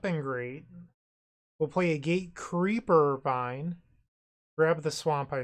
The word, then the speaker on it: Gatecreeper Vine: Axebane Guardian play a Gatecreeper Vine yes grab a Forest pass the turn they play a Gatecreeper Vine sure I've been saying it wrong this whole time it's gate creeper I've been saying keeper whoops now they play